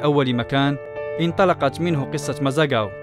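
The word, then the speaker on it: Mazagão: في أول مكان انطلقت منه قصة مازاغاو أو مازاغان كما ينطقها معظم الناس.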